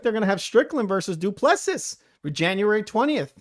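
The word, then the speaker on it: Du Plessis: It looks like they're gonna have Strickland versus Duplessis for January 20th. That would be Duplessis. That's not how you pronounce that, Duplessis. No, Duplessis. Why would you pronounce that Duplessis? Because that's how you pronounce it.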